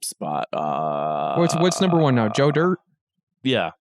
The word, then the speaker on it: Joe Dirt: Joe Dirt? Yeah. Joe Dirte, actually, is what it's pronounced.